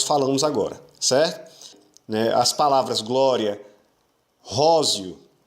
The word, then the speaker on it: glória: Se você fizer a divisão gloria, você fez uma divisão errada, você, na verdade, está pronunciando a palavra de uma forma diferente. A palavra não é gloria, a palavra é glória. Glória. Então a gente diz o som do I e do A juntos.